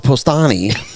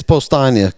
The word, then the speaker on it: Postania: He still calls it Postani, which is hilarious. All right. Yeah, it's Postania, Coop. It's Postania.